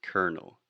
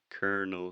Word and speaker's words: colonel: believe or kern yeah but the way we pronounce it is colonel colonel sanders okay and alexia was also struggling with